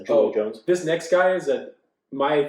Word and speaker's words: Julio Jones: Julius. Julio Jones. Properly pronounced Julio Jones.